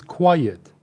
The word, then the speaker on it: quiet: The third one is quiet. Quiet. It's two syllables.